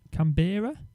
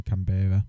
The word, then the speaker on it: Canberra: blue and i can't i can't pronounce that one can cambira come bearer actually canberra canberra yeah you say tomoto